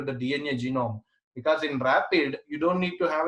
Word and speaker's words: RAPD: when you speak of Rapide Rapide Rapide is pronounce it as a rapid or DNA fragments amplified